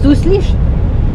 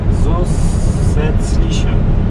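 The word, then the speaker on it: zusätzliche: Nie Zuslisz, normalnie czytasz, tylko A czytasz jako E. Czyli? Zusetzliche.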